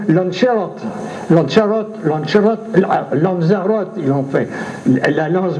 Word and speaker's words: Lanzarote: Lancelot, ils ne savent pas dire Lancelot, même maintenant, ils diront Lanzarote, ils l'ont fait, la lance brisée, ce qui n'a rien à voir avec cette affaire.